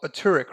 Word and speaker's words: Turek: And it's Turek, right? That's how you pronounce it? Yeah.